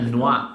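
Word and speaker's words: noix: that thing man yeah Noah the x is silent so it's Noah for nuts okay but don't you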